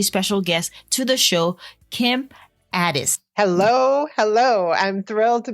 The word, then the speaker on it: Ades: introducing a very special guest to the show kim addis hello hello i'm thrilled to be here and i'm thrilled that you pronounce my name so perfectly awesome kim is